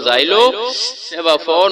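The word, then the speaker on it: xylophone: वाव की आवाज देगा, पी एच दोनों लफ्ज मिलकर फे की आवाज देंगे, ओ वाव की आवाज देगा, एन नून की आवाज देगा, ई आखिर में है तो ये साइलेंट रहेगा।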